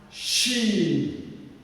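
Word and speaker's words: ش: Okay, this one she, she, she.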